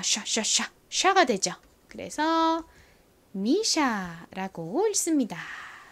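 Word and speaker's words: MISSHA: 그리고 ssh n 뭐 S 두 번 있지만 SH 똑같이 발음해 주시면 됩니다 쉬 소리가 나죠 그래서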